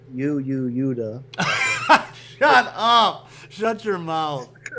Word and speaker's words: Yoda: Okay, And actually, you don't pronounce it Yo-Yo Yoda. It's Yuda.